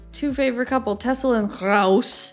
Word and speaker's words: Roos: Tessel en Roos, jullie zijn de volgende. Tessel and Roos. Or they pronounce it Roos.